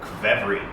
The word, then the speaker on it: qvevri: Hey friends, Andrey from Bliss Concierge back with you, and today we are talking about Qvevri.